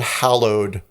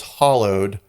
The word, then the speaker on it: hallowed: was Welsh but she didn't pronounce the word hallowed correctly pronounced it as hollowed and they were like